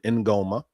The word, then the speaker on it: Ingoma: First, um that is the proper pronunciation, Ingoma.